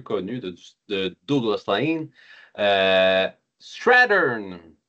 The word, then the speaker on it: Strathearn: Aujourd'hui, on vous parle d'une disie de Douglas Lin, une série récente et peu connue de Douglas Lan euh Strattern S R a H e A N.